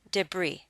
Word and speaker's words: debris: the next word debris comes to us from the French so we do not pronounce the last letter s you pronounce this word debris as if it does not end an s debris is scattered fragments or